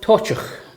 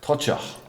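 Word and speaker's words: Toiteach: And this is How did you pronounce it? This is called Tochach. Tochach.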